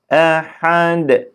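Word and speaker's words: أحد: tam yapacağız hareke vermeyeceğiz küfüven ehad ehed haar ha ha şeklinde değil istila harfi gibi değil he he biraz ne yapıyoruz çenemizi kırıyoruz yani ha şeklinde değil he Hi hu ehed şeklinde şimdi baştan bir alalım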